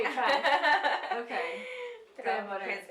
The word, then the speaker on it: TresBelle: How you pronounce it? TresBelle. Okay, I knew I was gonna say Tres.